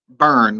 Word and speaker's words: Byrne: Burn, like B-U-R-N. That's like how it's pronounced. He's just fancy and throws a Y in there instead.